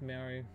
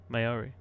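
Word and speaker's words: Māori: Okay, so it's Maori, but people don't pronounce it properly. Maori. Yeah, I pronounce it right. Yeah, Maori. I think it's because it's the A is where it is. Maori. That's probably why.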